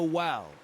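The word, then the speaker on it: Wael: But I have since come to know Wal, he who sees and is not seen.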